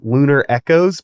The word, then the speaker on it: LUNR ECCOS: collaborative music project that I believe is pronounced lunar Echoes but spelled silly yes exactly tight yes